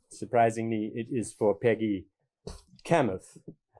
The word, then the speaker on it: Kamuf: If they had titles, one might be Peggy, the other, I carefully pronounced, Kamuf.